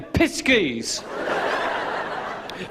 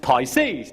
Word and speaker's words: Pisces: I can always say Piskies. Oh, no. No. I think you'll find that's pronounced Pisces.